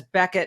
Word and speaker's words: Bequette: people mispronounce it and I remember hearing it as Becket and thinking wow it doesn't look like Becket but there you go